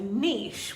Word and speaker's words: niche: my american accent but in the uk of course we say niche which actually rhymes with leash and that's how some